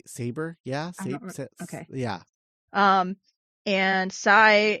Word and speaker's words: Psi: yeah yeah um and Sai is like a cyborg haha that's why his name sigh um except it's it's annoyingly spelled PSI yeah like the